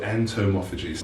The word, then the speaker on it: entomophagy: entomophagy is that right am i pronouncing that correctly yes so entomophagy fine ugly work but so I don't like